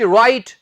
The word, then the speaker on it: write: जो शब्द अक्सर WR से स्टार्ट होते हैं उनमें हम W को नहीं प्रोनाउंस करते। कुछ वर्ड्स तो स्टूडेंट्स आपको आते ही हैं, जैसे कि गलत की इंग्लिश रॉन्ग, WRONG, लिखने की इंग्लिश राइट, WRITE।